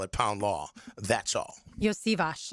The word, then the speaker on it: Iosivas: Iosivas is how you say his last name.